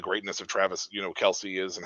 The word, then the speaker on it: Kelce: here and it's like Travis Kelce was or I'm sorry Kel because that's actually how it's pronounced uh was was actually